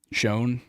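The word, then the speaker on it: Schoen: You pronounce Smart. that as Shane? Yeah, it's Joe Shane. Joe Shane. What you thought it was? Shone.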